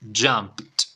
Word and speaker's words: jumped: agarró el ritmo bueno simplemente agregamos Ed en este caso Ed vamos a ponerlo en rojo y pronunciación con t vale pronunciación con t listo Bueno vamos con la ronda repite conmigo forma base jump jump y pronunciación en pasado jump Okay jump tiene que sonar al final peite jumped Okay jumped